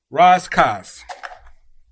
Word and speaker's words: Rass Kass: So, Rass Kass, That would be the the proper emperor, the the Ethiopian. That's how you say it.